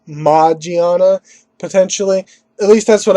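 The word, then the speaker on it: Magearna: a mythical Pokemon, and it is, of course, Magiana.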